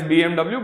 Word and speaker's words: BMW: All right, that is why it is BMW, but the actual pronunciation is BMW.